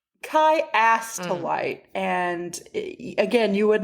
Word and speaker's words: Chiastolite: Kai to light. And again, you would not probably think that that's how it's pronounced because if if I were to guess, it looks like Chia.